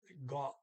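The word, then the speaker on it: godt: Now, so it goes from gu to got. T is pronounced. And the vowel changes because now you have 2 consonants after the O.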